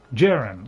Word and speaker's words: Hjerim: Yeah, this is what because I don't know whether the H is silent or whether the J is silent. And I don't think I've ever heard anybody say the name of it. Hjerim, right, okay.